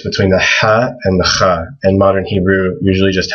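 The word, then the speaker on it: خ: But people usually write a KH for kha. It's similar to, like in Hebrew, people say Hanukkah. It's the exact same sound in Arabic.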